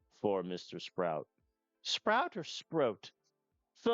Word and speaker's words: Sproat: Sproat is the correct pronunciation.